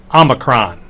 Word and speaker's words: omicron: It's the omicron. It's a lowercase o. But it's always the short o. It's never pronounced o.